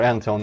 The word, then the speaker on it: Anton: So that my name is Anton, or Anton if you want to properly pronounce it in English, I guess.